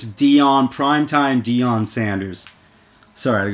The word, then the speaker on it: Deion: NFL other people say other people say male blunt no no no no no it's Dion Prime Time Dion Sanders